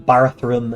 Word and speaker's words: Barathrum: I pronounce them Barathrum and Barathrumites.